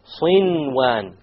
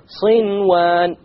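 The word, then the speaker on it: صنوان: There's a noon sakin followed by a waw. Sinwan, sinwan. You pronounce the noon. In this case, the ruling would be idhar. You make it clear. Okay? Without any ghunna, you make the noon clear and you move on.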